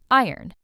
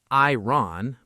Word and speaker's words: iron: Iron. This word looks like it should sound like iron, but it doesn't. We say iron. The O almost disappears.